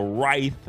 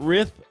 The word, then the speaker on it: rife: spell it out r-i-r-y-t-h-e so Rife is how you say it not riff it's right and basically